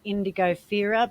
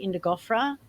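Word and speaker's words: Indigofera: the plant in um you could pronounce it indigo fera but it's actually indigofra and it could be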